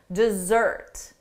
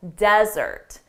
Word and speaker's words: desert: For the verb, the syllable stress is on the second syllable, desert. But for the noun, the syllable stress is on the first syllable, desert.